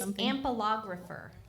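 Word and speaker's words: ampelographer: It's ampilographer.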